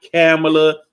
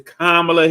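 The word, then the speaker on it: Kamala: how to say her name correctly it's not camela it's not cam it's kamla Harris get used to saying it properly because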